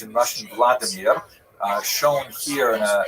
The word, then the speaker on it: Vladimir: What's uh especially important in its history is the conversion of one of its leaders a deer pronounced in Russian Vladimir uh shown here in a statue overlooking the dipro river that runs through the middle of cave.